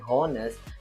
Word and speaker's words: honest: in my honest opinion walaupun tertulis honest honest kita tidak membacanya dengan honest tapi edge-nya atau huruf H ini kita baca dengan silent atau tidak terdengar in my Once opinion